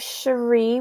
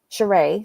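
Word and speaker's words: Sheree: and then we have cherie whitfield cheray sorry cheray whitfield i'm confusing her with my friend they both spell their names like this but pronounced differently spring summer or september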